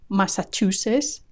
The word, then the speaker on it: Massachusetts: Maran Maran marilan marand Massachusetts Massachusetts I love this one there's no hint of the final T Massachusetts Massachusetts when faced by two final consonants Spanish speakers tend to drop the one they find most difficult to say and keep the easy one in this case the S is the easy one Massachusetts